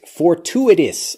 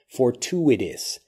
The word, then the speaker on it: fortuitous: ap fowl peafowl next fortuitous fortuitous listen carefully to how this blends for two it is for two it is so it's fortuitous you can pronounce it